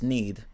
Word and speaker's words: knead: or here i don't even know how that's pronounced hold up i'm i i think it's ned is it neither ned oh it's need okay need yeah it's need okay so need